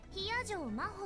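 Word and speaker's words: 比屋定真帆: Hiyajo Maho って読むの。私の名前、Hiyajo Maho。漢字でもローマ字でも誰も読めた試しがないから、先に言っとくわ。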